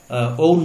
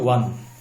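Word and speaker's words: won: এই শব্দটা ওন না, এই শব্দটার উচ্চারণ হচ্ছে ওয়ান। এটা আমরা অনেকেই ভুল করে থাকি।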